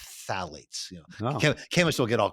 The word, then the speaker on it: phthalates: I pronounce it too, but it's actually pronounced with the T, phthalates.